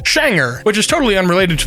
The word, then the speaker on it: genre: Swedish phonetics the spelling would imply that it's pronounced genre however it's actually pronounced schanger which is totally unrelated to the spelling I